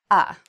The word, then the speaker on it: of: We actually pronounce it more like ah.